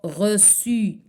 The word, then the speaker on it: reçu: Comme par exemple le mot reçu. D'accord? U, normalement c'est Q. باش نسمعو حنا su خصنا نزيدو عليها لا سي دي.